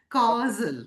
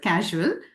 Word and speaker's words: causal: that you know it's easy to um mispronounce it as casual but it's really the